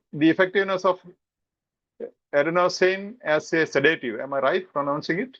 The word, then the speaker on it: adenosine: Now coming to option A, the effectiveness of adenosine as a sedative. Am I right pronouncing it?